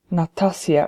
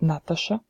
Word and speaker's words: Natasha: to write the phonetic pronunciation of my name which is not natassja if some people assume when they see how my name is spelt but Natasha it's an intern international